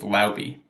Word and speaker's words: Laube: It's Laube. That's how you say it.